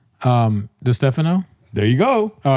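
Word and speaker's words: Distefano: Um Dphano. There you go. Oh, it's Dano.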